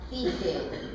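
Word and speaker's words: τύχη: Bueno, precisamente jamartía, él me está hablando de la tijé, T-Y, es la J que se traspasa como una CH y se pronuncia tijé.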